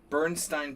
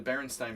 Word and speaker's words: Berenstain: Bernstein Bears. The Berenstain Bears.